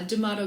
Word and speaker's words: Damato: what's your last name how do you pronounce it because my accent uh D'Amato Greece The Motto Grace of course Grace I